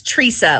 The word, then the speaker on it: Tresa: spelling here teresa kinda it's teresa like a tree outside you can thank my